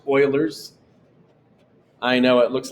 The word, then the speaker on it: Euler: a look at that funny spelling that is pronounced euler's i know it looks like euler's but that's okay and these notes on how